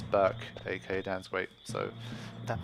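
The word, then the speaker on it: Berk: how's it going it's burke aka dan's wait so that might be why my name is burke but it's spelled b-e-r-k for the record so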